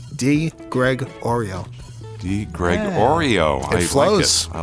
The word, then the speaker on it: DiGregorio: And I always tell people the way to learn how to pronounce it, the letter, the name, the cookie, DiGregorio.